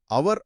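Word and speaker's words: hour: సరే రెండవ ఖాళీ లో అవర్ అనేది హెచ్ అక్షరంతో మొదలైన దాని ఉచ్చారణ అవర్ అనే వవెల్ సౌండ్ తో మొదలవుతుంది. హెచ్ సైలెంట్ అందుకే దాని ముందు యన్ వాడాలి.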